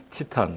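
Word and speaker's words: チタン: 그 다음에 치탄, 우리말로 티타늄. 여러분들 조금 이것도 푸노트지만은 T가 일본말은 발음이 안 돼서 치르다 하는 거 염두에 두시기 바라고요.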